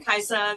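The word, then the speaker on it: Kajsa: questions about my name, so it's a Swedish name. That's why it's spelled this way. Pretend the J is an I if that makes things a little bit easier.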